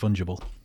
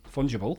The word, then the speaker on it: fungible: replaced with something else it's a soft g i think it's fungible fungible yeah well see we're gonna